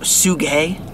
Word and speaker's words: Suga: I'm the sorry, lyrics it's pronounced Suga. Oh, people are going to lay into you for that. It's Suga.